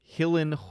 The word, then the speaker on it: Gyllenhaal: uh he replied that it's pronounced hill in hull hillen who killed a houlinae something tells me that he was joking alice mccarthy tagged at 8 19.